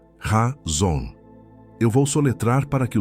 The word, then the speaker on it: chazon: A palavra é chazon, se pronuncia razon.